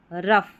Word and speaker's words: rough: OUGH इसको अफ पढ़ते हैं। तो यहाँ पर जो ज़्यादा स्पेलिंग काम में आती है, जैसे टफ, इनफ, रफ, यहाँ पर ये तीनों